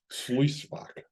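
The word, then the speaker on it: Sluyswacht: Could you pronounce that for me, Rich? Sluisvak.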